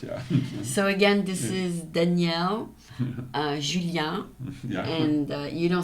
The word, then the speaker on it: Daniel: American friends call me Danielle, but some say Daniel. Oh yeah, Daniel. So and Julien or Julien or whatever. Dan, they call you Dan. Oh, Dan. Yeah, exactly. Yeah. They don't say Danielle.